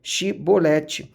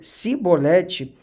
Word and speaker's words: chibolete: de gilead lhe diziam Então diga chibolete se ele dizia sibolete não podendo pronunciar corretamente a palavra eles o agarravam e